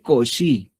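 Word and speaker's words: Cauchy: Koshi se escribe así, cauchi. Sí, cauchi. Se lee cosi.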